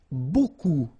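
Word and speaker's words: beaucoup: you want to use Buu Buu means a lot of it look it looks a bit strange B like that remember you don't pronounce the final P okay and then you've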